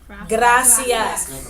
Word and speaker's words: gracias: what do you see gracias right remember the R is there get out get out GRA makes what sound good ah so